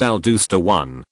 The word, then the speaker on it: aldosterone: production of the hormone aldosterone pronounced al dooster won by a tumor that